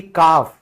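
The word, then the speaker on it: calf: बछड़ा यानी कि काफ। ठीक है? फिर इसमें भी क्या हुआ? एल से पहले ए लिखा हुआ है। इसीलिए एल साइलेंट हो गया।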